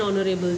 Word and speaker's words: honorable: Further, the honest and honorable, it is not sounded.